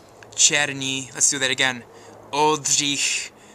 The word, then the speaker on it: Oldřich: Oldřich Černý, or Ulrich Black, or Ulrich Black if you're, you know, an Anglophone and you can't do the ch sound. Let's do it again. Ch, Ulrich. Ready? Oldřich. That's how you say it.